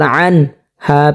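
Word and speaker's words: عنه: অনেকে এটা পড়ে থাকেন আনহো, যদি আনহো পড়ে তাহলে কিন্তু সহি শুদ্ধ হবে না। এটা হলকের মধ্যখান থেকে অবশ্যই উচ্চারণ করতে হবে স্পষ্টভাবে, যেমন আনহু।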